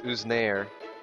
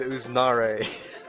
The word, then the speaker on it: Uznare: with me today is usir why would what why would you say my name like that you know it's not pronounced like that I am with usar okay that's better uh we're doing C